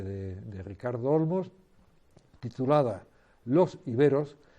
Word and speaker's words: íberos: Y fíjense ustedes que tanto en la versión francesa como en la versión española, la E tiene esa rayita arriba, que lo que está diciendo es, oiga, pronuncien ustedes iberos, que es como tenemos que pronunciarlo.